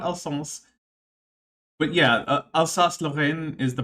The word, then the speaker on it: Alsace: Alsace. Yes, thank you, Alsace region of France. That's like sometimes France, sometimes Germany. Not Alsace.